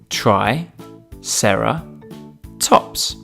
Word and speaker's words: triceratops: today triceratops try sarah tops can you say it with me try sarah tops let's learn all about